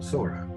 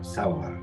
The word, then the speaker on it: Sora: Now, outsiders often pronounce Sora Sawara or Sabara, and Sabari is now widely believed to have been Sora.